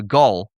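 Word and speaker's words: Gall: And you mentioned, you know, uh, Gaul, it's not Gail, it's Gaul's law.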